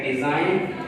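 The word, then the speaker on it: design: हैं इस तरह के, डिज़ाइन, साइन। तो यहाँ पर जी जो है साइलेंट है क्योंकि ई के बाद है, ये रूल हमने पढ़ा है कि आई के बाद जी होता है तो साइलेंट होता है।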